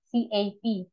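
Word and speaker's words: ÇAP: Terus kita bisa double degree atau di Turki itu mereka sebutnya CAP, CAP, cara bacanya CAP gitu ya, CAP, CAP.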